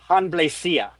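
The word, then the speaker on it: Hanblecya: Usually it's pronounced hanlesia.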